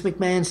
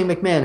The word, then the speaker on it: McMahon: he can't pronounce Vince McMahon's name he doesn't say McMahon he'll go you know that mcmah guy mcmah he always say you know this mcmah guy you know he's got